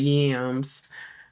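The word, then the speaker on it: UAMS: So, US or something like that, but they pronounce it like Yams.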